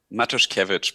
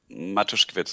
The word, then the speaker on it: Matuszkiewicz: um first of all your name am I pronouncing it correctly Dr matuskiewicz matters coverage but matuskovitz is also fine okay thank you very much